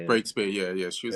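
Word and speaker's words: Breakspeare: Breakspear, yeah.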